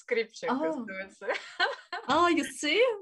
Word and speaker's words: Stripchenko: But it's the same for Skripchenko, you know, it's somehow it's Skripchenko.